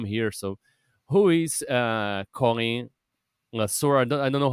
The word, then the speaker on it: Le Sueur: Yeah, so I'm Colin Le Sueur. Le The French Sueur.